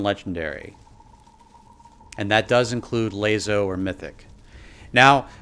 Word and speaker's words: LASO: and that does include lazo or mythic now some people ask why i call it lazo instead of lasso i figured it was